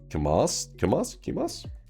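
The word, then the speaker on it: κιμάς: In Greece, ground meat is pronounced kimas.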